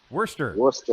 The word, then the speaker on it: Worcester: So, Wormtown Brewery in can you pronounce Worcester? Man, I'm having it's hard. Worcester. Worcester.